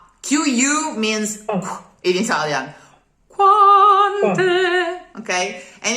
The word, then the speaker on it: quante: but it's not in the throat at all, the Italian Q. It's really in the cheeks. Qua. It's a blow of air. And there's no U, there's no real U. It's not the qua. It's qua. Quante.